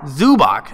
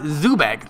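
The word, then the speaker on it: Zubac: dude he's a regular zubik is pronounced zu zu bak zu Bach not zu bag thanks Sam Cole zoo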